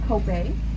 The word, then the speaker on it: kope: It's pronounced kope, K-O-P-E in Hawaiian.